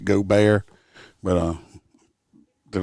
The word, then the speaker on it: Gaubert: was a short one now it's pronounced go bear but uh they're not